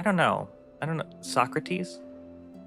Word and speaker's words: Socrates: Are they the Socrates? I don't know. I don't know. Socrates.